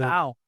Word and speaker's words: Powell: Can you correct Hayden Powell. Hayden Powell? Someone said Paul one time. I'm like, it's spelled Powell, but you know, we're going the it's Pal now.